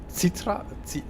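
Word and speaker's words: zítra: Zitra? Zitra. Oh, so the Z is pronounced Z. Yeah, exactly. Zitra.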